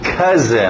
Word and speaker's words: cousin: Cousin, lembra o som de because? Então, cousin.